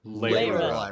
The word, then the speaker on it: Lyra: Lyra. Lyra is me. Lay, as in you are Lyra. laying down on a mattress.